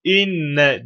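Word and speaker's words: إنّ: gelen Hemze nun maddesi inne diye okunuyor inne Enne değil yani Enne mi inne mi nasıl okunur konumuz bununla alakalı tabibu Evet inne burada yani Hemze esreli okunuyor Gale maddesinden sonra geldiği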